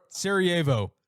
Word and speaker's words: Sarajevo: Sarajevo.